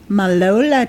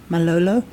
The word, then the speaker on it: Malolo: Malola tribe, the Orange tribe. Malolo. Yeah. Is that how it's pronounced?